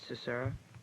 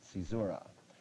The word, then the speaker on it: caesura: Cicera. I'll accept that. Caesura. It's spelled C-A-E-S-U-R-A.